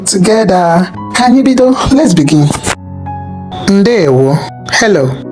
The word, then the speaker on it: Ndeewo: Ndeewo, hello.